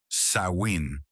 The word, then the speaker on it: Samhain: du fer, les Celtes accueillaient Samhain (prononcé « Sa-win ») chaque année dans la nuit du 31 octobre.